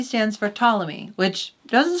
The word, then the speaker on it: Ptolemy: it's spent ammonia but just like my name the p is silent yeah finally we're talking